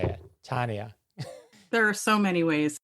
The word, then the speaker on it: Tonya: hesitation was the way you're talking about name pronunciation. Right, it's Tonya. Now I got it. Now I can, it will just roll off my tongue now. Tonya. It's like, how else would you say it? Tonya.